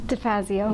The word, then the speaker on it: DeFazio: DeFazio. DeFazio.